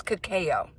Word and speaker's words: cacao: This is cacao. This is how they pronounce it.